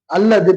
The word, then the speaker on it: الله: வேணும் சரிங்களா எப்படி இருக்கணும் அல்லாஹ் அப்படின்ற வார்த்தைக்கு முன்னாடி ஜபரோ அல்லது பேச வந்தா அல்லா நாக்க நல்லா வச்சு சொல்லணும் அல்லா அப்படின்னு சொல்லணும் அதுவே ஜேர் இருக்குன்னு சொன்னா லில்லா